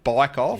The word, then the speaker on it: Bikeoff: Bikeoff, yep. Like you take your bike off the back of your car.